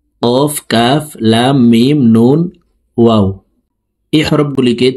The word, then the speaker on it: واو: 2 ঠোঁট গোল করে 2 ঠোঁটের মাঝে ফাঁকা রেখে ওয়াও হরফের উচ্চারণ করব, ওয়াও।